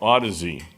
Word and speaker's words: Audeze: a new company newer company called now I'm pronouncing it correctly now Odyssey and um so I bought just pretty much